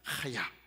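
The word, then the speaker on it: חיה: 친절하게 제가 예 사실은 이제 발음으로는 중간 발음 됩니다 하야 혹은 카야 중간쯤 됩니다 하야 이렇게 발음합니다 하야 이게 뭐냐면 사실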